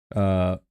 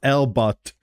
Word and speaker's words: Elber: Elber, not Elbut, Elber. Tuna recipe.